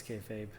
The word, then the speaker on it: kayfabe: memory of reading that the word comes from pronouncing b think backwards so maybe it was kfb once upon a time and now it's kayfabe also the